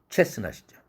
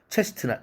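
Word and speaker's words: chestnut: 체스넛이죠. 체스트넛 하지 않습니다.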